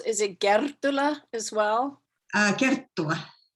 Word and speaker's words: Kerttula: Kerttula. Kerttula. Yeah. Well, we both mispronounce our names.